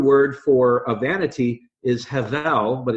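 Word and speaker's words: הבל: The Hebrew word for a vanity is hevel, but it's spelled with a B. So H-E-B-E-L, soft B, pronounced hevel.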